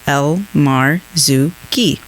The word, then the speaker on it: Elmarzouky: you spell that but when you break it down it's spelled exactly how it sounds El Mar Zuki okay I just learned today yeah elar Zuki welcome to the club